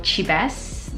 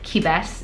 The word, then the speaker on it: QiBest: i found on sharpie the brand name is called chibas that's just how i'm gonna pronounce it you can call it kibas it's up to you the makeup is